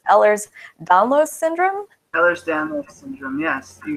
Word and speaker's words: Ehlers-Danlos: right so Walker help me out if I mispronounce this it's ehlers-danlos syndrome others down yes you got it all